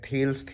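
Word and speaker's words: Thales: जा रही है कि बट प्रोनाउंसिएशन ज़्यादातर लोग थेलीस करते हैं। मैं थेल्स कर रहा हूँ क्योंकि ये मेरी कंडीशनिंग वैसे कर दी गई है।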